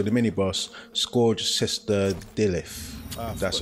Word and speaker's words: Delyth: side boss, so the mini boss, Scourged Sister Delyth. That's how you pronounce it.